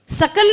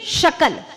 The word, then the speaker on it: शकल: शकल गे हैं, सकल नहीं शकल, शकल यानी टुकड़ा, सकल यानी संपूर्ण। स का श उच्चारण इतना सा बदला कि अर्थ बदल गया।